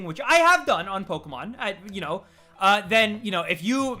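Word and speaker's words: Pokémon: It is, like, you're supposed to pronounce it Pokemon. There's the reason, there's a little, like, accent above it.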